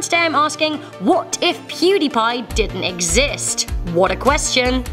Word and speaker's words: PewDiePie: PewDiePie, apparently originally intended to be pronounced PewDiePie after his online gaming name, PewDie, and his love of pie, which, to be honest, I feel you on that last one, Felix.